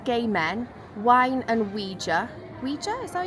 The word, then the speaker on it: Ouija: Ouija.